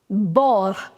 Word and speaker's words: bord: Bord, because D would be silent.